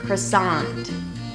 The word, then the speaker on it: croissant: So yes, I know that for you French speakers, this word may sound like we just butchered it. And yes, that's what happens when you take a word from French and you turn it into English. You have to turn the French sounds into American sounds.